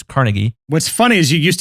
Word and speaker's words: Carnegie: there andrew carnegie that's right carnegie it's not pronounced carnegie it's carnegie what's funny is you used to say the